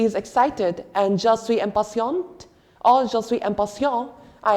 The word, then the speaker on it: impatiente: Like, remember, when E gets added up after the last consonant, the conjugation of that consonant gets even more emphasized. Otherwise, we don't pronounce the last consonant, like impatient. We don't say the T at the end. But the moment an extra E gets added up right there, we say impatiente.